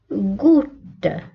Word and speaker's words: goutte: نحن في هذه الحالة إذا ننطق G une goutte une goutte.